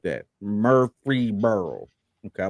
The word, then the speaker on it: Murfreesboro: Marlboro. Is that cousin to Marlboro? No. Oh, okay. No relation. It's Marlboro's Yeah, aunt. Murfreesboro. Illegitimate son. I like that. Murfreesboro.